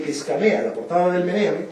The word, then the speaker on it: Meneame: Entonces pues no puedes pronunciar MNM, Meneame.